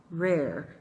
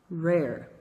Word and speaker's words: rare: É esse R que você tem que tentar pronunciar.